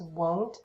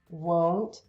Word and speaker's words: won't: And yeah, and also the pronunciation is won't. It's important that you use the long O, won't.